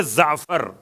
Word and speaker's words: جعفر: اصل لفظ جعفر ہے. جعفر کا تلفظ ہے زعفر.